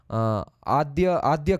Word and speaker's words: Adya: But as this one is swallowed up by herself, she is also Adya Kalika, the primordial Kali. And as in Bengali I think it's pronounced as Adda Kali, which is why Adda Peeth, right?